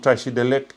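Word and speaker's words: བཀྲ་ཤིས་བདེ་ལེགས: Tu peux l'entendre, Tachidelek. Le K, très léger, mais c'est pas Tachidelek. C'est pas lek. C'est Tachidelek. Vraiment comme si, tac, à la fin, tu as un petit truc qui court derrière, quoi.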